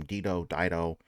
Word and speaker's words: Dido: Dido.